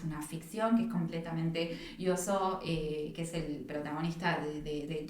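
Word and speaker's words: Yōzō: Y te das cuenta que desde las primeras páginas conocemos a Yoso se pronuncia, sí. Yoso, que es un niño incapaz de entender a las personas, ¿no?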